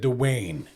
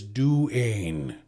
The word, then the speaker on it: Duane: Like I worked with a Duane, and I accidentally said Dwayne, but he says it's Duane, like D-U.